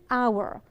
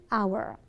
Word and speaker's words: hour: An hour. An hour.